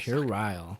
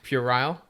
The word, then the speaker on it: puerile: Pure Isle. Pure isle? I hella fucked it up. It's definitely not. All right, how you know what? Pirelli. That's exactly how you say it, actually. Puerile? Yeah. Oh, thank God.